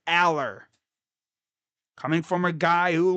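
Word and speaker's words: Allar: pronounce that dude's name, it's not Alar, it's Aller. Coming from a guy who lived around where he played. I saw him play in high school. That's how you say his name, not Eller.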